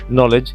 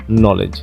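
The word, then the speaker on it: knowledge: এই যে কেটা রয়েছে, এই কে কিন্তু এখানে উচ্চারিত হবে না। অর্থাৎ যেহেতু এখানে কেটা উচ্চারিত হবে না, সেহেতু আমাদের কি হবে, নলেজ। উচ্চারণ নেব কি আমরা, নলেজ।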